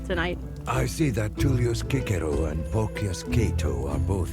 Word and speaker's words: Cicero: Yes, because, well, if you're trying to pronounce it in ancient Latin, the C is hard, so it's Cicero, not Cicero.